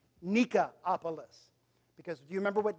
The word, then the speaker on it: Nicopolis: In the Greek, it would probably be pronounced Nikopolis.